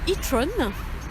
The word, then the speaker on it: e-tron: Et en fait, il se trouve que elle s'appelle, en anglais, ça se prononce e-tron.